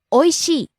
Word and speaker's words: おいしい: First we have おいしい、 delicious, tasty, おいしい、おいしい、 rising on the second syllable E, falling on the last syllable E. おいしい、 Next, かわいい、 pretty, cute, lovely, かわいい、かわいい、 rising on the second syllable Wa, falling on the last syllable E.